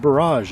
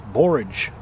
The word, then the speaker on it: borage: barrage plant asking me why are you calling it barrage it's borage well I say potato